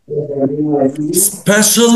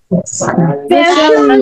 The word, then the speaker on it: special: Special needs. بصوا يا شباب, احنا عندنا مقطع C-I-A-L بننطقه شال. شال. شال. شال. يبقى الكلمة دي هنقولها ازاي؟ Special. Special. هتلاقي ناس كتير بيقولوها special. لا غلط, نقولها special.